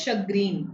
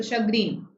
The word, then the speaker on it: chagrin: Yes, this is pronounced as chagrin. This is sh. It's pronounced with a sh sound, like champagne, right? So chagrin.